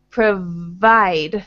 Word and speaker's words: provide: So, with the W sound, the sound that you are making is more like provide, but we want provide. So your teeth are more on your lower lip.